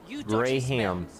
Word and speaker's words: graham: the toilet graham graham gray ham we say graham as gray ham not scram graham how do you